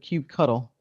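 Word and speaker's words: kubectl: right up there with with Cube cuddle which is the proper way to say that oh I appreciate Phil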